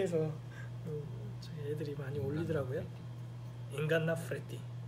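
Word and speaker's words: ingannapreti: 인간나 프레티. 인간나 프레티. F가 아니라 P 발음 파요.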